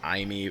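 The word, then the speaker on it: Aimee: And by the way, I think her name is pronounced Amy. I'm gonna be saying it as Amy. I'm pretty sure that is a valid spelling of the name Amy.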